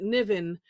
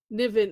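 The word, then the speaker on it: Nyvyn: Um it is uh I another I don't figured out how to pronounce it, Niven. Or yeah, technically today's, yeah. Niven, n y v y n by Teresa Fassett.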